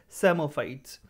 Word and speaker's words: Psammophytes: Okay, P is silent here, Psammophytes. The plants which require large quantity of calcium, then they are designated as calciphytes.